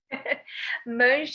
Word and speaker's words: Mange: Mange is very close to what it is in Portuguese, but I'll take mange, anything.